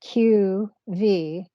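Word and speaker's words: q.v.: too so Q dot V Dot and it's pronounced q v used in books to tell a reader that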